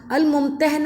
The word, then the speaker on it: الممتحنہ: سے اس کا نام الممتحنہ رکھا گیا، جس کے معنی ہیں وہ عورت جس کا امتحان لیا جائے، اور دوسرا تلفظ ممتحنہ ہے جس کے معنی ہیں امتحان